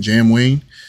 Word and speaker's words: JamWayne: Wayne right that's how you say his name Jam Wayne and I was like okay I'mma check it